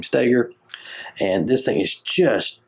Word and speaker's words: Stoeger: Some people say Ben Stoeger, but he pronounces his name Steger.